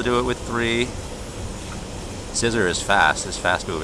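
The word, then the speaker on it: Scizor: wait uh scissor right I pronounced it czer but it's actually scissor right don't sleep on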